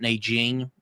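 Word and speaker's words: Nanjing: uh the book uh the rape of Nang King by or Na Jing depending on how you pronounce it.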